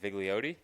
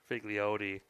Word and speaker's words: Vigliotti: Vigote. Vigote. I did not think that needed to be in the pronunciation guide either.